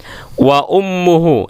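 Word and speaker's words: وأمه: Wa ummuhu, dibaca mimnya ini baca dhammah.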